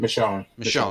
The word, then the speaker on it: Michonne: I know the character of Michonne. How do you say her name? Michonne, yeah.